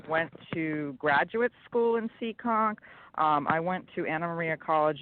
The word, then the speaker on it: Seekonk: and yes I do hahaha well okay it's pronounced Seekonk Seekonk Massachusetts which is right by Providence Rhode Island